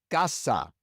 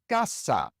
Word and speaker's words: casa: Think of words like casa. Gasa ends in an a, a vowel, and so the stress goes on the second to last syllable. Ga. Gasa. You can hear that I put a little bit more stress on that syllable than on the last one.